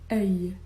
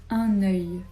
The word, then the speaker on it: œil: On va prononcer ce mot œil. œil. Œil. Avec la liaison, on va dire un œil.